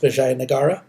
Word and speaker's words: Vijayanagara: And I know in your book it spells it without the A, but it's pronounced Vijayanagara.